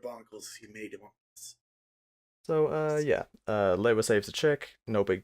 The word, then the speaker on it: Lewa: How does everybody pronounce this guy's name? Lewa. I pronounce it Lua, or at least that's how it seems in my head. Liwa? Because there is a bit of debate among the Bionicle community about how to pronounce this guy's name, despite the fact that many times it has gone on record. The canon pronunciation is Lewa.